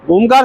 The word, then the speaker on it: ओम: जब ओ करेंगे तो आपका बड़ा मुंह से आवाज आएगी। जब मां का उच्चारण करेंगे तो आपका नेसल यहां से गले से भी आएगा, लिप से भी आएगा।